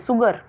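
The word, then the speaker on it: sugar: अब देखो यहाँ पे एस यू होता है, तो बहुत सारे लोग इसको सू पढ़ते हैं, शुगर, लेकिन हम इसको प्रोनाउंस कैसे करेंगे, शुगर, शुगर केन।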